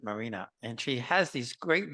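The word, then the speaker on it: Maryna: uh she's really fantastic her name is uh Marina m a r y n a she pronounces it Marina and she has these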